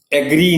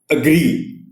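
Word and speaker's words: agree: شور کسی باب میں، ایگری نہیں کہنا، اگری، اگری. اور یہ اس میں سٹریس جو ہے وہ آر پر ہے.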